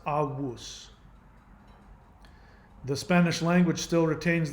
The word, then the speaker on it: avus: The Latin version of ancestor is, it's spelled with a V, but it's pronounced avus.